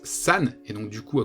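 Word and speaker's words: 三: Puisque le chiffre 4, on l'a vu, ça se prononce shi, le chiffre 3, ça se prononce san, et donc du coup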